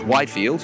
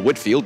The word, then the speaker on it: Whitefield: and others such as George Whitefield or Whitfield depending on your pronunciation John Wesley formed the